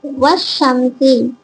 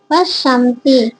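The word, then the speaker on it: والشمس: அலிப்லாம் வந்துச்சுன்னா என்ன செய்யணுமா அலிப் லாம உச்சரிக்காம லாமுக்கும் அடுத்த எழுத்துடன் இணைத்து உச்சரிக்கணும் சரிங்களா உதாரணத்தை பாருங்க வஷம் பாருங்க அலிப் லாம ரெண்டுத்தையும் விட்டுட்டோம் வாவை எடுத்து ஷீல சேர்கிறோம் சரிங்களா அப்படின்னு சொல்லி சே்கறோம் வஷம் இதுபோலதான் என்ன சம்டை எழுத்துக்கள்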